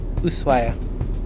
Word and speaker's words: Ushuaia: Then we were on a plane to get to Ushuaia, which is how you pronounce it. It's spelled Ushuaia, but it's pronounced in Argentine Spanish, Ushuaia.